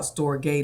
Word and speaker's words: storge: We're talking today about Storge Love. Rhymes with agape love, S-T-R-O-G-E.